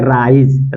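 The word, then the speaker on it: rise: देखिए क्या पढ़ेंगे ज तो यहां प इसका उच्चारण करेंगे तो इसको पढ़ेंगे राइज राइज मीस होता है उदय राइज मींस उदय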